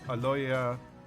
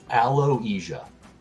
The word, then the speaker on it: Aloysia: uh so yes uh aloya is that how you pronounce it aloisia aloisia yeah by Louisa um hands over the